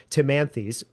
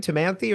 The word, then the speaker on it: Timanthes: In fact, it is this aesthetic of the irrepresentable that gave Timanthes. How do you pronounce his name? Timanthe or Timanthes, yeah. Timanthe. Yeah. Okay. I think that's right.